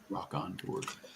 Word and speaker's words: Rockonteurs: Rock and Tours, or like Rock N and then Rock. It's spelled ROCKONTEURS. Rock on Tour.